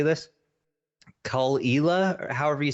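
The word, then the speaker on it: Caol Ila: Cull-Ela, or however you say that. I think it's 12. Yes, that's delicious. I think it's Koila.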